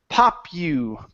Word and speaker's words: popular: Popular. Popular. There you go. Popular. So the AR here at the end, we pronounce it like an ER.